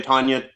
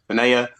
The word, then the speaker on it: Tania: Some people say Tanya, Tania, but it's Tania.